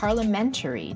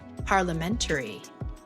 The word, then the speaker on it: parliamentary: Hệ thống chính phủ của Úc là par-luh-MEN-tuh-ree dih-MOK-ruh-see Cách phát âm có thể hơi khó. Từ Parliamentary có 5 âm tiết. Chúng ta hãy cùng nhau đọc: (par-luh-MEN-tuh-ree) (par-luh-MEN-tuh-ree) (par-luh-MEN-tuh-ree) Dân chủ có 4 âm tiết.